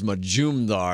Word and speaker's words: Majumdar: I've got a great guest right now, Sarit Majumdar, and it's 3 syllables, Majumdar, and I got that down really well.